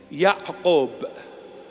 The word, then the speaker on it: Ya'qub: James is a Hebrew Aramaic name, Ya'qub. That's the proper pronunciation.